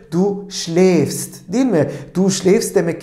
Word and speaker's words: schläfst: Du schläfst. Demek ki A umlaut almış. Yani A'nın üzerindeki, değil mi, bu noktalara A umlaut şeklinde E şeklinde telaffuz ediliyordu. Du schläfst, değil mi?